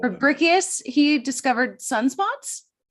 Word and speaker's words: Fabricius: And I want to get to that in a second, but also astronomer Johannes Fabricius, is that how you say it? Fabricius, I think we call Fabricius, he discovered sunspots.